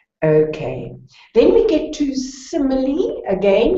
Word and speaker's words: simile: Then we get to simile. Again, you pronounce that final E.